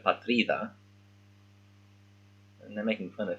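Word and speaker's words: πατρίδα: Right, so because he doesn't speak Greek fluently, he's saying partida instead of patrida, and they're making fun of him.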